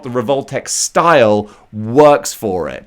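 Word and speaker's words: Revoltech: that works with the revoltex style i much preferred it when i mispronounced it as revlatech i think that just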